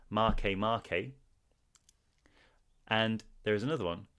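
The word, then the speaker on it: Makemake: aries it's serious there's make make i believe that's actually it's way it's spelt make make but it's actually pronounced marque marque and there is another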